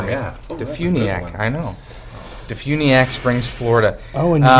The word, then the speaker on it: DeFuniak: yeah DeFuniak I know Defuniak Springs Florida oh and you know even where the emphasis goes it's on the all caps DeFuniak oh I have a